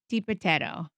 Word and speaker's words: DiBitetto: Comedy lovers, meet Vic DiBitetto.